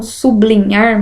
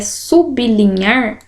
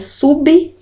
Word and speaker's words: sublinhar: Na palavra sublinhar, que as pessoas falam sublinhar, mas está errada a pronúncia, porque é sublinhar, o sub, nós vimos aí que é um prefixo, ele fica sozinho, porque a minha segunda palavra, a continuação dela aqui, começa com consoante.